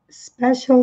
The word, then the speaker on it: special: I'm on a special diet. Aqui vai ser sempre pronunciado tudo junto. Aqui é I'm on a special diet. Special, C com som de X. Special. L, na pontinha da língua. Special.